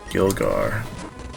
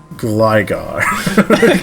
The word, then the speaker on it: Gligar: Gilgar. Did you just say Gilgar? Gligar.